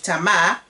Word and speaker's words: Tamar: he will have with Tamar or Tama depends on how you want to pronounce it will not be